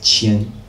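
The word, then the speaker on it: 千: And the bottom one is pronounced qian.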